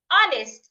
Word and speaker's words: honest: heard in the word our honest and honor the age should not be heard now the next consonant